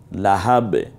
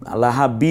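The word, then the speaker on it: لَهَب: হয় যেমন না তালাহা লাহাব এখানে দুই লাহাবি বলবো না লাহাব্বিন বলবো না থামার কারণে শুধু লাহাব বলতে হয় এরপরে যদি আমরা যেমন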